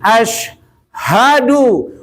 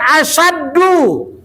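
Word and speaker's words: أشهد: Ashadu. Bukan asyaddu ya. Salahnya asyaddu itu nanti amat sangat artinya asyaddu itu nanti kita belajar di terjemahan Quran nanti lihat di kamus asyaddu.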